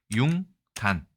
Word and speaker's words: 융단: 이 단어는 우리가 융단이라고 읽습니다. 공예 용어네요. 양털 따위의 털을 표면에 보풀이 일게 짠 두꺼운 모직물 이렇게 되어 있습니다. 융단, 발음 요소가 작용했을 가능성이 매우 크죠.